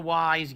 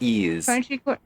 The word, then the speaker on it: Ys: played any of the wise games but I've never played yeah it's not pronounced Wise It's pronounced ease yeah we'll do that